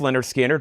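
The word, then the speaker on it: Lynyrd Skynyrd: Leonard Skinner, pronounced Leonard Skinner, More Analog Productions, 100% analog mastering, 2 LP, $64.99.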